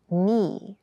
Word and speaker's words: knee: hard keep in mind yes this word begins with a K in spelling but the pronunciation is knee the boy fell and